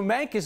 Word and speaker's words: Mancos: I've lived here is Mancos, a U sound. It was named after the river. Oh, I've heard Mancos, and then I've heard Mancus, but it's Mancos. So Mancus is what they say,